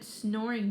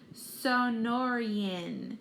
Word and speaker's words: Sonoran: that already Ben nods whoever heard of a snoring desert Frankie shouts and some and the same crew of boys snickered Sonoran Ben pronounces the word slowly it's the name in